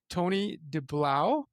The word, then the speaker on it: Tony Deblauwe: So for the folks joining us here today, I have Tony Deblauwe. Is that pronounced That's correctly?